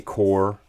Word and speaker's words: corps: sense uh oh yeah the word army core uh has a p and an s at the end now what's that spelled like corpse pronounced like core what are you guys